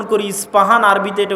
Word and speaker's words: ইস্পাহান: আমরা প উচ্চারণ করি ইস্পাহান আরবিতে এটা উচ্চারণ হয় না আরবিতে হয় আল আসবাহানি বা উচ্চারণ হয় ইসবাহান বা আসবাহানি সেখান থেকে 70 হাজার